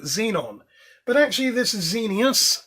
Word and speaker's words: Xenius: So, what we are looking at, if the silly thing will focus, it's a XENIUS. Now, X is always pronounced as sort of Z, and that's very similar to xenon, which is XENON.